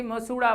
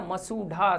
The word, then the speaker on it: मसूढ़ा: वर्तस्य रात, देखें वर्तस्य दंत और मसूढ़ा, कई विद्यार्थी मसूड़ा बोलते हैं, मसूड़ा नहीं होता, मसूढ़ा सही शब्द, शुद्ध शब्द।